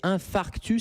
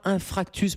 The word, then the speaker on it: infarctus: Alors, vous le prononcez très bien, c'est infarctus, c'est pas infractus, parce que j'ai beaucoup de patients qui inversent un peu les lettres.